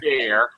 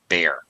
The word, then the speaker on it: bear: has two vowels and people try to pronounce both vowels but actually it's pronounced as one long a bear okay that's it all